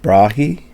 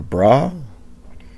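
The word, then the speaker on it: Brahe: the model of both Tao brahi or braah I think I've heard it pronounced both ways and also of St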